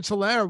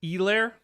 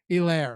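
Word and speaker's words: Helaire: points were scored clyo tolaire was a was a colossal bust in a spot like that i believe that's pronounced elaire what did i say hello no h oh okay c-e-h clyde edwards elaire it's basically like c-e-e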